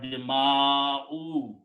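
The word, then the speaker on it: دماؤ: So do not pronounce dima'u, because then you will be pronouncing the sound of you, sound of waw. Simply pronounce the sound of hamza, dima'u, not dima'u.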